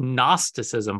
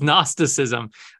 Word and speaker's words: gnosticism: to say it's called gnosticism but it actually has a g so the g is silent so Gnostic right it's gnosticism the g is silent